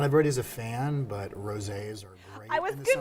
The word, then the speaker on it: rosé: Rosé is big right now. It's been big for a little bit because, I mean, it rhymes with all day, so rosé all day.